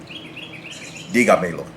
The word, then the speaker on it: dígamelo: Dígamelo. And again, you're going to notice that the stress is on that fourth to last syllable.